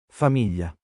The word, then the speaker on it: famiglia: Familia, famiglia, famiglia, familia. O sea, GL. Yo creo que la GL del italiano es equivalente a la EY, ¿no? Española.